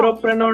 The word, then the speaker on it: entrepreneur: Entrepreneur, na? Pronunciation, actual correct pronunciation is entrepreneur. Entre, not entro.